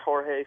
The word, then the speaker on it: Jorge: Yes, it's pronounced Jorge, spelled Jorge. WHORE-HEY.